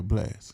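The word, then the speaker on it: Blxst: r b pop artist uh how are you pronounced dude from from the west coast blast blix yeah blast last okay chris brown uh jivion lucky day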